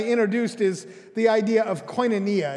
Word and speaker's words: koinonia: the things i introduced is the idea of koinonia it's a greek word say koinonia yeah and